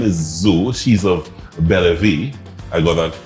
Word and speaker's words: Bella Vie: capitol family her name is zoo she's of bella v i got that spell i got a pronunciation correct that sounds good french is french